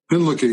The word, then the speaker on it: Hinlicky: Hinlicky, yeah.